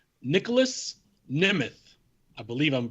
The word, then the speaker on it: Nemeth: Number 4, Nicholas Nemeth. I believe I'm pronouncing that correctly. It's Nemeth.